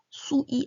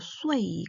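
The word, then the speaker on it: shui: 발음할 때 리우 아니고 리어 수이 아니고 쇠이, 쿤 아니고 쿤 이렇게 발음을 해주셔야 돼요.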